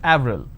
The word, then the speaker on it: Avril: it's it's a month right in french it's pronounced at avril the name clement is pronounced at clamor in